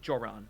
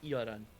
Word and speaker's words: Joran: Uh as as a quick tip, it's it they they pronounce it Yuran. Did I say did I not say Yuran? I think he said Joran. Y or Joran? It's Yuran.